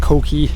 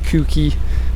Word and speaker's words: Koki: In case you don't speak Japanese, it's pronounced Koki, not Kuki, like a lot of people say.